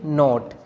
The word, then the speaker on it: knot: इसी तरह KNOT, इसको हम कहेंगे नॉट।